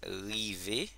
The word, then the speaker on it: rive: Eso no es tan difícil, en creol se pronuncia así, como en francés. Como un ejemplo tenemos rive, que significa llegar, ok.